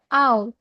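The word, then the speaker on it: owl: ও ফর আউল। আউল মানে পেঁচা। আমরা এটাকে ওল বলবো না, হ্যাঁ।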